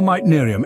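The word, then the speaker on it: meitnerium: chemical element with the symbol SB let's spell MIT narium m e i t n e r i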